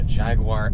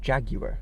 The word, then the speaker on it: Jaguar: you say it but the British say jaguar so it's like I've just been trying to Jaguar you're the j-a yeah Jag is the first syllable in the UA you Jaguar you want Jaguar okay but you're saying